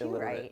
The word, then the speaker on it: Eliturite: Yeah, see, Even though it's pronounced illiterate.